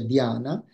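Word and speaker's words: dhyāna: pronunciava la parola meditazione in sanscrito che si pronuncia Diana il Pali in pali si pronuncia Giana è una pronuncia un po' diversa e il Buddha avendo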